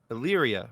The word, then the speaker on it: Illyria: look those things over, and I'm hoping I'm pronouncing this correctly, but is it the Illyria series? Illyria.